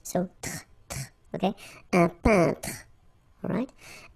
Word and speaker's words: peintre: Un peintre. Alright? And remember, final here is not pronounced. It only gives you the possibility to pronounce these two letters. So, tr, tr, okay? Un peintre.